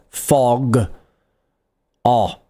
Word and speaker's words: fog: Get that O sound right at the back. O. So not O, not U, not O. O. O, U, O. Ah, ah, ah. Right at the back. Fog. Ah.